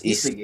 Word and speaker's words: Isagi: Because I still don't know what the correct pronunciation of it. The main characters. Isagi Yoichi? Is it Isagi? Isagi or Isagi? It's Isagi.